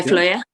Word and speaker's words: Fløya: How do you pronounce that? Yeah, Fløya.